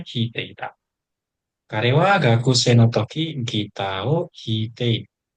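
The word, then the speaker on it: 弾いて: Cara bacanya hite.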